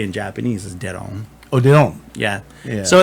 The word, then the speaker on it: Deron: say but it's spelled d-e-r-o-n which is obviously pronounced duran and like for most most black people i